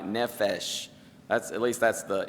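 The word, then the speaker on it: נֶפֶשׁ: hebrew this word is i'm not a expert on hebrew pronunciation but i believe is something like nephesh that's at least that's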